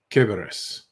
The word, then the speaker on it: Cerberus: Yes, Greeks do a hard C. Cerberus.